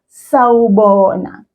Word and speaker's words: sawubona: The word sawubona has 4 syllables in it. Sa, wu, bo, na. I'm going to repeat those, but I want you to pay attention to those sounds. Sawubona. You hear 4 sounds there. So that's 4 syllables.